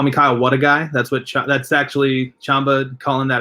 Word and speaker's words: Wlodyga: My name is Kyle Wlodyga. It's Polish. The L is silent. All that stuff. You can call me Kyle Wlodyga.